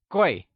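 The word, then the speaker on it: 贵: how to pronounce it clay is pronounced in the falling tone can you say boy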